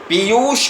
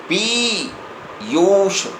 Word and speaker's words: पीयूष: पीयूष का उच्चारण जब होगा तो प पर जो ई की मात्रा है वह दीर्घ मात्रा है। पीयूष।